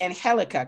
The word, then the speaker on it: Angelica: the g is silent the g is an h yes okay all right